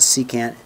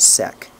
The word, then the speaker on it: secant: respect this secant okay we'll call it C can't it's not sec okay cotangent is of